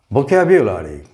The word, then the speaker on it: vocabulary: In this pattern, the U can be pronounced in two ways. It is commonly pronounced in this part of the world as U, particular, vocabulary, modular, singular, popular, secular, etc. But it has an alternative pronunciation, and that is more common in the UK. The native speakers of the language pronounce the sound here as ya, not you.